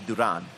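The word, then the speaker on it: Durán: hands of stone roberto duran yeah in his you know the spanish pronunciation would be duran yes so at any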